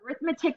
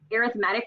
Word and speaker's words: arithmetic: is to say arithmetic so arithmetic is the noun like what we studied in school arithmetic is the adjective describing the sequence so you know how